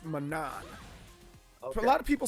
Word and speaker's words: Manon: And Manon is it Manon or Manon or as far as based off of what I'm hearing people say and what the computers the announcer says, it's Manon.